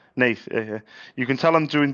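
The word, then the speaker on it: Naas: Am I pronouncing Nate? Nate. N A S. Nate.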